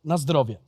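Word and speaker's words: na zdrowie: say uh in polish it's quite similar as to in other eastern and southern countries so it's nostrovia and then you drink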